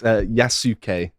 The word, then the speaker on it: Yasuke: It's Yasuke. Yasuke. I've heard it pronounced Yasuke.